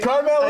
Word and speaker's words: Karmel: Karmel is right. You got right. 100% right. Now let me throw you some alternate pronunciation.